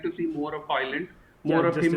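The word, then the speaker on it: Højlund: Next up, does Ramus Hojlund, that's how you pronounce it, Hojlund, right?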